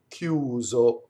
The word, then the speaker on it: chiuso: Eh, chiuso. So there's a K sound, right? The H makes the CI hard, like a K sound, right? If it didn't have the H, it would be chi.